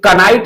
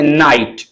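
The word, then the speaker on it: knight: इसे कनाइट ना पढ़कर के को साइलेंट रखेंगे। पढ़ेंगे नाइट नो नाइफ।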